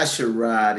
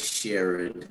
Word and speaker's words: Sherrod: It's not Sherrod, it's Sherrod.